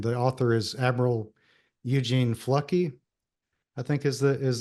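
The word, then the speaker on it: Fluckey: Thunder below and the author is Admiral Eugene flucky I think is the is the right way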